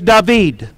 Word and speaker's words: David: The emphasis is always on the second syllable. So the name is David.